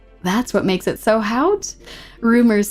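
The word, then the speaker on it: haute: I think haut is what someone gracefully told me last time is how to pronounce that.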